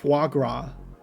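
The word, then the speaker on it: foie gras: the subtitles to say say it correctly correctly fuagra hey there we go it works it's also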